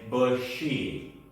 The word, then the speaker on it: bushy: Everyone say bushy. Remember to pronounce the sh sound in this word very clearly.